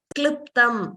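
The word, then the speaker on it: क्लृप्तम्: Kliptam is one word where we have k and l together, the swara l. So please note that and then pronounce accordingly.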